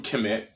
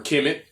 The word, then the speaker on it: Kemet: And if we understand the knowledge that's coming from Kemet, or Kemet, however you want to pronounce it, you're dealing with the 2 pyramids.